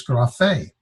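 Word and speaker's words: γραφή: this is gras Fay the accent is over the last syllable so it's graph a what does graph a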